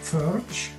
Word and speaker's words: Pfoertsch: And Pfoertsch is a PF, which is not a sound in the American alphabet or in the English alphabet.